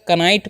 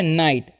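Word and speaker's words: knight: तो बहुत सारे स्टूडेंट्स कंफ्यूज होते होंगे सर कनाइट पढ़े या फिर नाइट पढ़े। तो देखिए इसको पढ़ा जाता है नाइट। के का उच्चारण यहां पर नहीं करना है।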